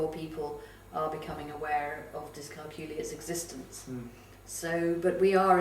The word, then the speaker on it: dyscalculia: One of the I always just say it rhymes with peculiar, but of course dyscalculic children are not peculiar.